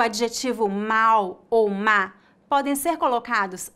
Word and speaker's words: mal: a mesma no Brasil a letra L em final de sílabas é pronunciada exatamente com a letra u portanto pronunciamos mau com